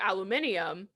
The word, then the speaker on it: aluminium: way you pronounce it both ways could technically be correct because of how it's spelled yeah whoa yeah holy